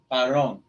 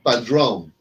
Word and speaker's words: Padrón: Say it, padrón. Drone. That's what I said. I finally asked. Padrón. About an inch and a half. No, think always like drone, and then put padrón.